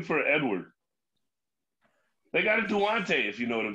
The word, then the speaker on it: Duante: So I get everything from Duante to Duant. I even get Dwayne once in a while, like the T silent and shit.